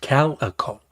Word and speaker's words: calico: It's pronounced calico. You know, like a calico cat. First syllable rhymes with pal. The accent is on the first syllable.